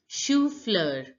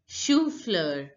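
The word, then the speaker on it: chou-fleur: cauliflower is pronounced as shufler shufler shufler now see ch is pronounced as sure in French whenever you see CH together it is pronounced as sure in French so you sound pronounced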